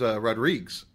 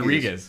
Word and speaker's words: Rodriguez: My real last name is Rodriguez. I didn't know that. Yeah. So it looks like Portuguese. Rodriguez. Yeah, it's pretty much spelled exactly like Rodriguez.